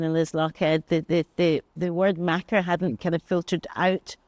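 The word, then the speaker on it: makar: I was a macker between 2016 and 2021. I love the term macker. It's spelled M-A-K-A-R.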